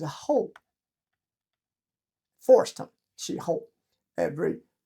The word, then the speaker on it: 候: That's kind of literally translated, but pronounced as a whole.